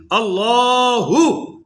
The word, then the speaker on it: اللہ: اللہ. بولو ذرا اللہ. یہ تلفظ ہے یہ الو الو الو الو, اور بات صرف او او کی آواز آتی ہے. ال کا بھی پتہ چلتا.